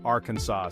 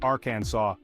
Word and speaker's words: Arkansas: talking about Arkansas now you might be tempted to say Arkansas and hey I get it it seems logical but hold your horses my friend because the correct way to say it is Aransas yep you heard that right it ends with a saw sound like you're about to cut some wood in those beautiful Arkansas